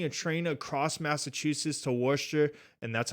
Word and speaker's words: Worcester: I was taking a train across Massachusetts to war sure and that's how you pronounce it washed you it's spelt Worchester but